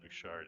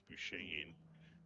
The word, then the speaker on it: Bouchane: Bouchard, it's Bouchane.